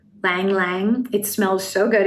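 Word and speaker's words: ylang-ylang: soap and it's called i always say this wrong lang lang but it's spelled y y-l-a-n-g lang lang it smells so good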